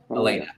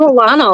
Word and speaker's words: Elena: Elena. Oh yes. I I knew that. Uh I made I made her spell it phonetically yesterday. I get called Alana a lot so it's fine.